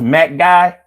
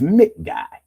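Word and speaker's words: McGuy: Oh, it's pronounced Mac Guy? My bad. Mac Guy. Oh, I'm sorry. I'm thinking it's Mick Guy. It's Mac Guy.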